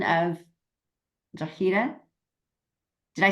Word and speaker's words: Drogheda: But he So did say, it's I had a decent, Drogheda, how did you say it? Drogheda.